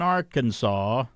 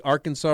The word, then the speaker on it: Arkansas: Transportation officials in Arkansas, or as a kid I always say, that looks like Arkansas. That's how it's spelled. Do you know the Arkansas River is called the Arkansas River in Kansas?